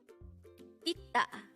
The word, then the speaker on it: 있다: Itta. Itta. This pronounced is two-syllable word. The first syllable is it, second syllable is da.